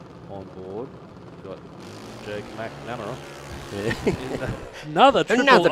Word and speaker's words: McNamara: I worked with a bloke and his name was McNamara, but he wanted his name pronounced McNarama. Oh, really? Mm. Just to make it difficult for you? Or? Yeah, no, he wanted to emphasise the Mac.